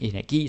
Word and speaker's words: energi: Almost every time you have a word that ends with I, like terapi, bageri, slagteri, fyrværkeri, energi, synergi, there's hundreds of those. You put the stress on the I.